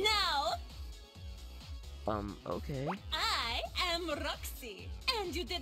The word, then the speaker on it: Roxxy: first name basis now I'm Roxy it rhymes with foxy so it's easy to remember show me your moves